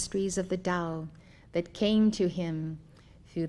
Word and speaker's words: Tao: concepts of the book Dao meaning way it is spelled T a o dur meaning virtue or